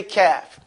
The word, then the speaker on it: kaf: Again, this is just a funny way of just learning how to pronounce the letter kaf. All those sounds that you see are English words that everybody knows how to pronounce, but they may not recognize that this is the exact way you say kaf.